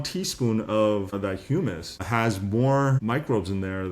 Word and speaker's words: humus: And I think when you won your award, you talked about, is it the right pronunciation, hummus or humus, or it was, and you weren't talking about chickpeas.